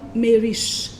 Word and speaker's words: Maurice: c'est le nom puisque maurice sera prononcé comme mais riche les rochers de poudre